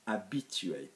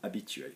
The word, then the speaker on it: habitué: the verb that Phil refers to which is a be chewy in the case of silent H sub H a bi T u ER in infinity a bit chewy okay we have similar words like habitual in